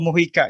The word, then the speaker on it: Mojica: end okay so uh your name is moika your full name yes correct yes do I pronounce correctly that's correct yes sir so uh